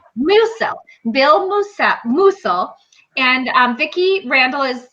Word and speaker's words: Musel: I always say your name wrong. Musel, right? Musel. Musel.